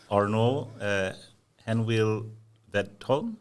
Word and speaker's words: Arnaud Henneville-Wedholm: and probably fail, but Arnaud Henneville-Wedholm. Yeah, that's perfect. No. Don't be nice. Arnaud, what's your surname? So Henneville is easy because Henneville is French, and the Wedholm part is the Swedish part of my name.